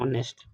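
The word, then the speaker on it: honest: मी्स होता है ईमानदार काफी लोग इसे ऑनेस्ट भी पढ़ते हैं लेकिन एच इसका साइलेंट रहता है तो हम इसे क्या पढ़ते हैं ऑनेस्ट और हार्ड वर्किंग आपको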